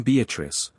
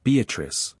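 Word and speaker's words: Beatrice: place I come note beatric I use this word as it is pronounced in the Italian as consisting of four syllables of which the third is a long one revisit with joy Love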